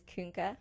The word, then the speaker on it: Koenke: my last name is Kunke, which gets botched. Okay, so we'll spell it for our fans here.